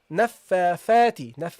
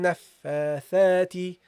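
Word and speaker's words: نفاثات: So this is a tha, guys. A tha. Okay, a tha. So you say, what do you say? Sharrin naffathati. Naffathati. Okay, so that's how you pronounce it, guys.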